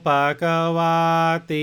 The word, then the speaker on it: Bhagavati: Kind of draw out that last syllable, Bhagavati. Okay?